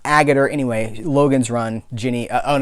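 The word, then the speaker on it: Agutter: cool show it had ginny agathor I believe is how you say her name a gutter some of us say or a girder anyway Logan's Run Jeannie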